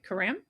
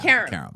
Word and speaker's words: Karam: It's Karam, right? Karam? Karam. Your last name? Yeah. Karam. Okay. I put the emphasis on the wrong syllable.